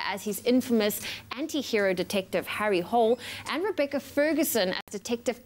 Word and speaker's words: Harry Hole: And so if I'm going to, you know, put the weight on my shoulders to be the nerd, it's actually Harry Hole is how you say the name.